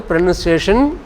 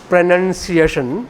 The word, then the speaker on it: pronunciation: Pronunciation, the word again, pronounce, verb, pronounce, but when it is a noun, look, PRON, this letter is left out. This O is left out. Pronunciation. Verb is pronounce. Noun is pronunciation.